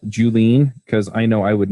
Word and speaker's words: Julien: say hi awesome you may want to spell julene because I know I would never guess how to spell it with oh yeah it's that's this weird